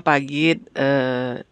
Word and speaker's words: Pagiet: Bacanya Pagit aja. Oh, Pagit Kak. Ya, tapi tulisannya Pagit gitu. Tapi tulisannya biar Pagit. kayak Rusia gitu dia.